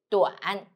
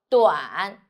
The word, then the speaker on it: 短: The word of today is 短. In this video, I will teach you how to pronounce it, how to write it, and how to use it.